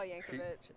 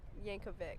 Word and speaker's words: Yankovic: that video is the entire video Weird Al Yankovic is is It Weird Al Yankovic Yankovic yeah okay see I didn't even know how